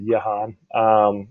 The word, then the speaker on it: Jehan: I pronounce it Jehan. It's the French version of John that was used back during that time.